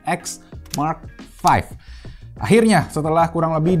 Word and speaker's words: XM5: yaitu bacanya bukan xm5 tapi X Mark 5 akhirnya setelah kurang lebih